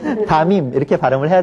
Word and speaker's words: 담임: 하지만 이때는 니은이 덧날 이유가 없어요. 그러니까 담임 선생님 좀 어색하십니까? 예. 담임 이렇게 발음을 해야 되겠죠.